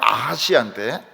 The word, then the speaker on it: 아하시아: 그 하나가 뭔가 하면 아하시아인데, 아카시아는 아닙니다. 아하시아.